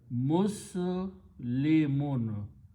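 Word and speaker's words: مسلمون: And you do not pronounce alif, so it becomes Muslimun.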